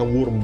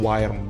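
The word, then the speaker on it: Wyrm: nge-lock ke worm tipe ini dibacanya worurm bukan wirm bukan wirm worurm kemudian bagian dari shorts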